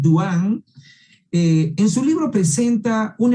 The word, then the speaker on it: Dehaene: Vamos a analizar el libro de Stanislas Dehaene, así se pronuncia este apellido francés, Dehaene.